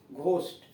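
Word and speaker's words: ghost: अन्यथा उसका उच्चारण जी एच का घ होता है, जैसे घोस्ट, जी एच ओ एस टी, जी एच के पहले कोई दीर्घ स्वर नहीं है, इसलिए यहां उच्चारण हुआ घोस्ट।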